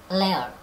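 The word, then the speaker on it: lair: 하나 가르쳐 주자면 L-A-I-R이라고 해서 layer 해서 이것도 펀입니다.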